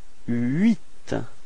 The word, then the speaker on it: huit: Okay, so you pronounce the final T, but then H, so the first letter is not pronounced. So you've got this first sound is U plus I, and it gives you this ui, ui. Alright, so you get this huit.